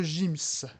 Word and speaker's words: Gims: mettre attendez sera qu'en maître Gims s'appellera maître Gims je suis désolé mais le G se prononce et non pas que donc vous voyez